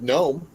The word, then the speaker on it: gnome: in there you don't even need it nobody pronounces it garl well the same thing with gnome gnome gnome by the way there is a